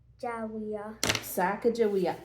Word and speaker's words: Sacagawea: So here, I'll write it in the boxes for you this time, and then you pronounce it. Okay. Sacagawea.